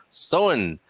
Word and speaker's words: Samhain: Don saying Samhain Gaelic Festival pronounced Samhain.